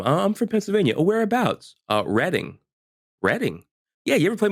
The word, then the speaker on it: Reading: mind it's the reading Railroad and you've been saying it wrong your entire life no yeah yeah really